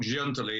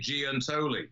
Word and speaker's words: Giantoli: him to realize that it's not gently it should be giantoli because along with uh